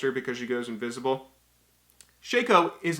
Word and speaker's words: Shaco: Shaco Shaco Shaco Shaco Shaco Shaco is actually pronounced Shaco I pronounced it shacko for a really long time and I got